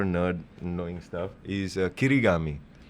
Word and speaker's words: kirigami: on since you're a nerd knowing stuff is kirigami yeah if you am I saying it correctly kirigami the sister of origyami origami origami yes papa uh papasan Um I forgot.